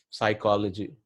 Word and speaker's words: psychology: Psychology, the P in, I mean, why do you have P then? I mean, if you are never going to pronounce it, why are you writing in the spelling?